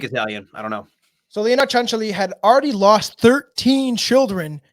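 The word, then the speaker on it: Cianciulli: name pronunciation as leonardo chancelli yep leonardo chancelli did you hear it did you yeah leonardo chancellory even though it doesn't look like it at all she she is uh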